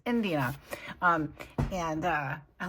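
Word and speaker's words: Idina: Indina there it is I can never say her name I always want to say India it's Indina um and uh I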